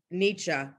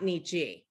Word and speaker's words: Nietzsche: if you say nietzsche which is like the correct german pronunciation and you go to